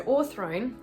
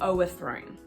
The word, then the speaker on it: o'erthrown: what i'm talking about so all throne please don't say oh a throne okay it's deliberately trying to contract so it has less syllables so don't add another one in or thrown okay she's